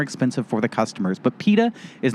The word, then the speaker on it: PETA: stand for it and i'm not just talking about some guy named peter and i'm calling him peta i'm talking about the organization peta p-e-t-a you're not you're just not using the british pronunciation peter peter peter went to